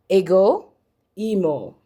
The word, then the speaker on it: ego emo: How is it pronounced? Ego emo, okay?